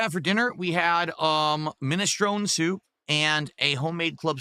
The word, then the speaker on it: minestrone: No, it's actually minestrone, but a lot of people have started pronouncing it minestrone. That's not correct. It's actually pronounced minestrone soup.